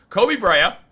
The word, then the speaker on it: Koby Brea: Koby Brea, pronouncing his name correctly now, he has absolutely all the tools of a player the Knicks need.